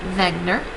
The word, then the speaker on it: Wegener: by a scientist named Alfred Wegener pronounced Wagner in 1915 he came